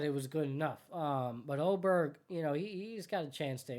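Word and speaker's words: Åberg: Oberg, I think it was. It's spelled Aberg.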